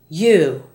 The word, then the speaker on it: you: Other Y words are you, not ju, and beyond, not beyond.